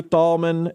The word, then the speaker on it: Thalman: get your name right do we pronounce the h in there you do not pronounce the h dang tomman I apologize I lost the bet all right it's tomman and Thomas C Rider uh